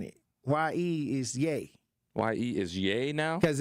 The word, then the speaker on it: Ye: Y-E is Ye. Y-E is Ye now? Because if you look at his name, Kanye, the Y-E is the Ye.